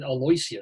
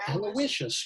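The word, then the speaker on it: Aloysius: by the way I never knew how to pronounce this until like a few years ago I was alus what oh aloicious yeah I went to there's Catholic School in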